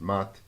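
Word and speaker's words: Maat: They called this rhythm Mayat, if I'm pronouncing it correctly. I've heard it pronounced Mat, but I tend to do Mayat.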